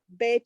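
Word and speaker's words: ב: So in a beginning, and that letter is the Bet or the vet. It can be pronounced as a V sound or a B sound.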